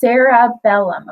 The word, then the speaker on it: cerebellum: sarabellum and you're like it starts with a c and it doesn't sound like it has an A but it's pronounced sarabellum okay so our brain